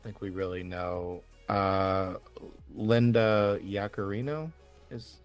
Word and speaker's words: Yaccarino: Linda Yaccarino is how you pronounce her last name.